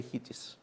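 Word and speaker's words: HATEOAS: There's no convention how to pronounce it. Most people say HITIS because it's short this way.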